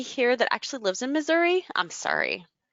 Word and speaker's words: Missouri: in Missouri I'm sorry or as people say here in Missouri but that doesn't sound right to me either and she called it misery so I have a really hard time remember that it's not misery oh my goodness some